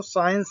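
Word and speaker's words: science: जैसे कि आपने साइंस देखा है, तो साइंस में सी साइलेंट होता है, ये पहले वाले सी का उच्चारण नहीं होगा।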